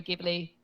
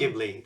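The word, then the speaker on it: Ghibli: Beautiful CES cor Studio gibli or jibli I don't know to pronounce it in English I say gibli in Spanish but I think you guys say jibli no I think it's gibli it's I think jibli is a mispronunciation something so yes stics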